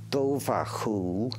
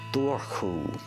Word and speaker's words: Dobhar-chú: You can pronounce it Dobhar-chú or Dobhar-chú.